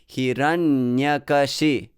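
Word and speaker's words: Hiraṇyakaśipu: sanskrit point of view so hiranyakashi so those nyakashi are light syllables they're they're short they're light so if you adhere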